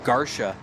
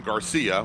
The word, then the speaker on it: Garcia: Brian Garsha is in 8th place right now in that Dodge Challenger. Sorry about that. Yeah. I called him Garcia. Well, Sure, you know, which would be the common pronunciation.